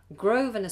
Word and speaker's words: Grosvenor: Can you pronounce two places in London? Grosvenor Square and Hyde Park.